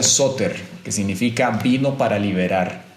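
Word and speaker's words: σωτήρ: y esta palabra salvador viene de una voz griega que se pronuncia suter que significa vino para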